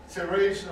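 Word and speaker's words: Terezín: Terrasen or Terrasen is the Czech pronunciation of the name. In German, it's Theresienstadt. Of course, as soon as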